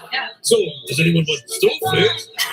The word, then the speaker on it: stoofvlees: Like, if you're an American tourist, you wanted to taste something particularly Belgian food-wise, We would say stoofvlees.